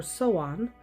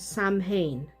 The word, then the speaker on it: Samhain: Samhain, or Soan, both pronunciations are correct depending on the dialect. The pronunciation that is not correct is Samhain. It is not pronounced the way it is spelled.